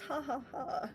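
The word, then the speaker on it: jaja: It's pronounced haha, mind you.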